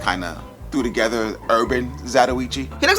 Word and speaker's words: Zatoichi: It's Zatoichi.